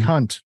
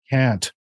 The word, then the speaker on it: Kant: i know emmanuel khan some people pronounce it hunt but that's not what we say here on this show can't let's go to uh